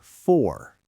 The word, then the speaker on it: for: Let us look at the word for. In isolation, it rhymes with door. But in a sentence, the O disappears into a schwa.